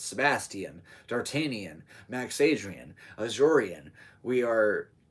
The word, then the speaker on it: Sebastian: am him you know you might know a lot of sebastians in your life or sebastians which is only three syllables versus four see like when you say Sebastian subastian that's three subas that is my name that's four so if you don't